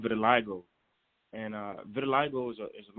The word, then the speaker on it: vitiligo: so just to make sure we're clear it's pronounced vitiligo yes ma'am vitiligo good because actually i was saying it some